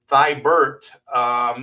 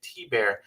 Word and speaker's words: Thibert: Nathan Rosario says, I've been pronouncing your last name Thibert since the 80s. After all that time, it takes a conscious effort to pronounce it T-Bear. Yeah, that's why I kind of spell it phonetically so people can get used to it. I know it's French. French people say things weird. So it's all good.